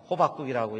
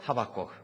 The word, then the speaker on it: 하박국: 오늘 본문은 하박국 소입니다 하박국 어 잘못 읽으면 호박국이라고 읽기가 쉬운데 호박국이 아니고 하박국 그런데 그 하박국이 것은 선지자의